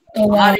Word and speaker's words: tovar: Tovar is R has to be pronounced.